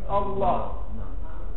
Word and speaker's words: الله: اللام في اللام دي الله ولذلك لفظ الجلالة في كم حرف أربع خمسة حروف لأنه عندك إيه في الكتاب يعني ألف ولمين تمام كده وفي الحقيقة ما ننطقش بلمين بننطق بلام واحدة مشددة الله الله زي تقول